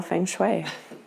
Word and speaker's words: feng shui: To know feng shui.